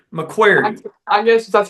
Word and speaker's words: McCreary: So the great debate, how exactly is McCreary pronounced? McCreary County. So there's like a Q in there, right? Yeah, that's how we say it. Okay, no, we want to get the local take. So McQuarrie. Yes. Okay, all right.